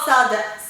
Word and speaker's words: Salada: It's called Salada.